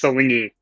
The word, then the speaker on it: Silingi: It's Silingi.